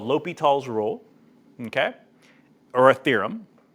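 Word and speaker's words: L'Hôpital: It's called L'Hopital's rule. So sometimes it's pronounced, sometimes you see it looks like hospital or L'Hopital without the S.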